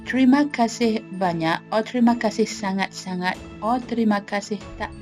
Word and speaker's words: sangat: when you use them how to pronounce banya and sang it generally it is pretty hard to pronounce the NY and NZ part in both ways however it is not impossible Banna is similar to NY in Kenya sonot is similar to an and G in hangar the easiest way is